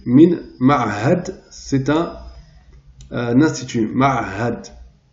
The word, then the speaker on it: معهد: Min ma'hadi, Max Planck, de l'institut, min ma'had, c'est un institut, ma'had, donc deux lettres difficiles à prononcer, ma'had.